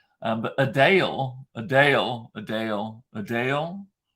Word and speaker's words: Adele: the real thing is most of us say Adele Adele oh I was listening to Adele I want to it's not that it's a Dale a Dale she's like it's a it's like a d-a-l-e sound not d-e-l-l a Dale a Dale